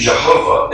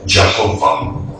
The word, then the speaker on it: Jehovah: It originated with the early German translators of the Hebrew language and their sounds, thus the more Germanic sound of Jehovah.